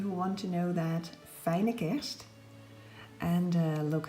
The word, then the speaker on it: Fijne Kerst: It says Merry Christmas in Dutch, and it is pronounced, for those of you who want to know that, Fijne Kerst.